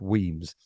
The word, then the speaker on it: Wemyss: Wemyss, pronounced Weems.